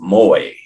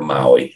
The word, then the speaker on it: Moai: the Fraternal Order of Moy and I stand corrected on that it's the Fraternal Order of Moy not the Fraternal Order of Maui I mean that's how